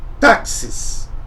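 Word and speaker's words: τάξις: não vou falar nossa que palavra difícil se pronuncia em grego táxis tá eu tô lendo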